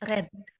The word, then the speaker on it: read: Nah, ini ya penggunaan read itu bukan read dibacanya tapi read. Red. Read ya ketika kamu apa seperti mengucapkan warna merah dalam bahasa Inggris apa? Red. Ya, sama persis ya.